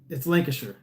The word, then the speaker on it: Lancashire: Yeah, Bog-Eyed Cumbrian said, sure, Shire is pronounced sure. Yeah, so it's Lancashire.